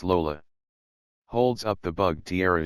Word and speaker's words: Lola: a snitch me and her name rhymes with granola lenny lisa very no lenny it's lola holds up the bug